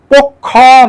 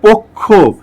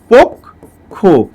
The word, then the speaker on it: পক্ষ: কয় মূর্ধন্য স থাকে, শব্দের শেষে যদি কয় মূর্ধন্য স থাকে, তাহলে অবশ্যই তার সঙ্গে একটা ও উচ্চারিত হয়। যেমন এখানে যেহেতু শেষে আছে সেই কারণে এর সাথে একটা ও উচ্চারণ হবে। এ কিন্তু পক্ষ না, এটা হচ্ছে পক্ষ, পক্ষ। ঠিক তেমনি এটা হচ্ছে দক্ষ। ঠিক আছে, এই যে দেখেন একটা ওকার রূপে উচ্চারিত হলো।